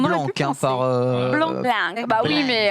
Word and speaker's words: Blanc: Prononcé On aurait Blanc pu penser. par. Blanc.